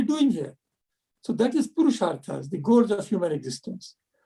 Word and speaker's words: Purusharthas: But first, let's go to wrap our session up to Pura Sartas. And please pronounce the name correctly for me so I can pronounce it correctly in chapter 21.